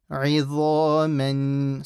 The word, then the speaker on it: عِظَامًا: And here this is a dha, so don't say za, don't make a za sound. So your tongue should go past your front two teeth. Dha. عِظَامًا.